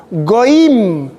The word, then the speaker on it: goyim: Goim.